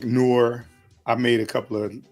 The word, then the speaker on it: noir: you can do like noir. I made a couple of I didn't do the thumbnails, but I made a couple images for the how you pronounce it, noir. Like the film noir.